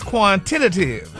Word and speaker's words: quantitative: easy and you can break it down in syllables but Ricky this week's word is quantitative oh no quantitative no Tity another black mark